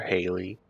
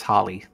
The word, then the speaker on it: Holly: Or Haley. That's crazy. Negative. I believe we found out it's Holly.